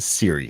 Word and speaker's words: Cirre: say your last name last name is pronounced Siri so just like the iPhone Co that's what I